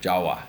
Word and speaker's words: Jawa: hippie places ve for Java or Jawa depending on your pronunciation So This Island right